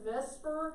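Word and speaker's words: VSEPR: shell electron pair repulsion we just pronounce that vesper because it's a bunch of letters all together and it looks kind of like the word vespers doesn't come with that's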